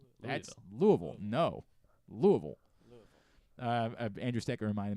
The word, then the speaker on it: Louisville: But it's sort of like Louisville. Louisville. No, definitely not that, and not Louisville. No matter how many times you try to say it, they will make sure you know it's Louisville. That's Louisville.